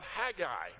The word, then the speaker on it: Haggai: at the book of Haggai. Now, you can say Haggai or Haggai, either one of those two pronunciations are acceptable.